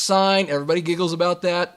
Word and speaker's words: sine: three incredible trig functions sine cosine and tangent notice that each of these functions has an abbreviation this is not pronounced sin it's pronounced sign everybody giggles about that